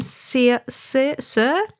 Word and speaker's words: Cyr: So for Fox's sake, which is a pattern that I've featured in one of the pattern picks before, it's Maxime Cyr CYR is how you say his surname, and it's awesome.